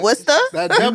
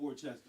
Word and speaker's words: Worcester: Worcester. But you know why though? Because Dorchester and Worcester is spelled almost the same way. Yeah. Yeah, exactly. It's not Worchester, right? No, no, it's not Wchester. It's W.